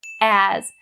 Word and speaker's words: as: is upon the word as make sure that that ah sound is really clear don't say a it is not correct if you say a's a's no as as like that as an apple as as as long